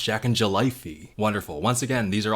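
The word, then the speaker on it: Jacknjellify: bobs, but I really like how it says pronounced Jack and Jellyfy here, because that is wrong. It's pronounced Jack and Jellyfy.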